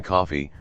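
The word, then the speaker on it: Coffey: Their latest arrival on the Green Mile is John Coffee, like the drink, only not spelled the same, a towering but outwardly gentle figure embodied by Michael Clark Duncan.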